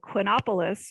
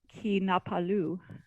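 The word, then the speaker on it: Quinapalus: reference to something called quinopolis in most pronunciations until you hear it done by my quebecois actor and he becomes sir ki napalu right he who does not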